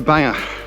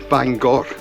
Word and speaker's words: Bangor: Tomorrow I'll be back to cycling and we'll be making our way to Banger. Bangar or Bangor is probably the more correct pronunciation.